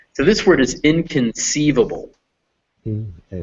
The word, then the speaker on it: inconceivable: so this word is inconceivable and the stress is on this part sieve and the way you could guess that is because in that's a prefix it means not and hubble that's a